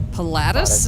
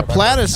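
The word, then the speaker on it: Pilatus: And this is what a Palatus. Did I pronounce that right? Yeah, Platus.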